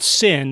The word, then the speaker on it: Cyn: So one of those is a musician called Sin. It's spelled C-Y-N.